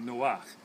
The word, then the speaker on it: Noach: They pronounce it Noah, but it's actually Noach.